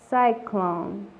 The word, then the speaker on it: cyclone: Cyclone. Cyclone, que significa. 259. Cylinder. Cylinder, que significa cilindro. Nótese la diferencia de la palabra anterior, que se pronuncia cyclone, la Y con sonido de I, y en esta palabra